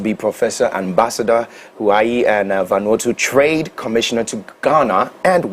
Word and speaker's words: Vanuatu: How is the word pronounced? Is it Vanuatu or Vanuatu. Vanuatu.